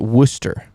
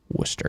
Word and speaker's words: Worcester: love that love that so you pronounce it Worcester gotcha Worcester got it okay oh we got